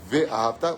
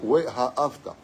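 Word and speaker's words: ואהבת: Comme ça que la prononciation scientifiquement, tu dis pas Ve-ha-hafta, We-ha-hafta.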